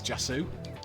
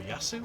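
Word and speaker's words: Jassu: And then my passing is only 3, so I need to find a player nearby, which I think is Jasu. Or Yasu, as it's pronounced.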